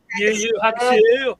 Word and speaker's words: Yu Yu Hakusho: Like that's what No, say it right, Johnny. Leah, Yeah, he didn't say it. Yeah, Hakusho. Yeah, Hakusho. Yu Yu Hakusho.